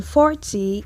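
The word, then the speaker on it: quarante: Then 40 is 40.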